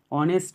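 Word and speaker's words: honest: B, mister Sen is dash অনেস্ট ম্যান, এখানে দেখো শূন্যস্থানের পরের অক্ষরটা কি এইচ, এইচটা হচ্ছে কনসোনেন্ট, তো এখানে বসার কথা এ, কিন্তু এখানে এইচের কোনো উচ্চারণই হচ্ছে না, অনেস্ট উচ্চারণ হচ্ছে, তাই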